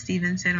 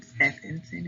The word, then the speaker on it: Stephenson: my name is miss stevenson or ms s um preferably this ass because some other students tend to pronounce stevenson steffensen or any other weird combination they come up with but i prefer this